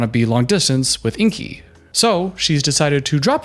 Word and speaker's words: Ingy: Ingy. It's spelled I-N-G-Y, but you pronounce it Ingy, which is, I guess